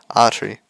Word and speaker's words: Atri: it was AR whatever I'm still going to pronounce it arery because I do not have the tongue rolling Precision to to pronounce the r like that on the way home